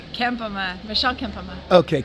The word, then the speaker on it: Kempema: Kempema, Michelle Kempema. Okay, Kempema, because Puglisi, I was mispronouncing it.